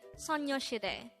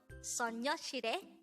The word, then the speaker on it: 소녀시대: So the Korean translation of their name is actually Soñosidae.